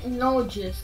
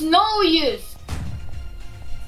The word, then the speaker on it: Nojus: Like, why does everyone say my name? Nojus. What the? Well, that's the way it's spelled. It's. It's no use!